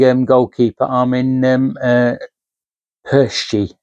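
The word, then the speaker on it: Pécsi: So um we brought a young um goalkeeper Armen um uh Persi or Perchie as he's pronounced for I think we paid 1.5 million 2 million uh from the Hungarian team that he was playing for.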